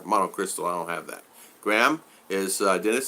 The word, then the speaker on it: Graham: Graham is Dennis saying hi to Graham. You know, when I see Graham, he said it right one day. He says like graham cracker, and I've never missed it since.